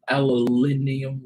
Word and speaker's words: aluminium: Yeah, I know I don't say it aluminium or however it is it's pronounced in the UK.